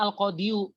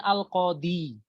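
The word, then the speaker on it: القاضي: ini asalnya Al Qodiri tapi kita nggak bacanya al-qodiyu tapi kita bacanya Al qadi aslinya itu Al qadi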